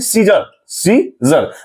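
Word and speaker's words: scissor: इसी ढंग से सीजर, तो यहां हम लोग पढ़ते हैं सीजर मींस सी साइलेंट हो रहा है।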